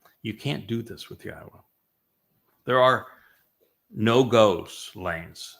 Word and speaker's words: Yahweh: And they changed Yahweh's name, which is clearly pronounced Yahwa based upon Torah, based upon Haya, to Yahweh.